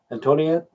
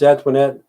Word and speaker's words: Antoinette: was always screwed up antonio antonio whatever she told me it's antoinette she said she's going